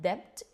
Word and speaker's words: debt: Be careful with this word. It's not debt, is debt. This is there's a silent B there.